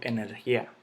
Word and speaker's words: energía: Energía, de nuevo, esa vocal débil se vuelve fuerte, porque yo no digo energía, yo no digo energía, yo no digo energía, yo digo energía.